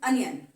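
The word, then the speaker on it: onion: तो जैसे अनियन, आउल, तो अ की साउंड, ये बच्चे कई बार ओनियन बोल देते हैं इसको, ये ओनियन प्रोनाउंसिएशन नहीं है बेटा, the right pronunciation is अनियन।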